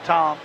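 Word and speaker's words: Thom: They have an E on it, but it's they pronounce it Tom, just like and his dad was the Tom that played at North Hall.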